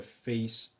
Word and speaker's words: PHACE: I hope you're telling me that we are trying to rule out the face syndrome. Face syndrome, which is spelled like PHACE syndrome, is a genetic syndrome of unknown pathophysiology and genetics.